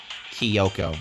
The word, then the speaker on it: Kyoko: soon as we split up kyoko went missing kiyoko that's how you pronounce it all right soon after that hina